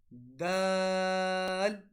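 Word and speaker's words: د: Okay, which are, so the letter ta, dal, ta. So these are articulated when the tip of the tongue touches the root of upper central incisors.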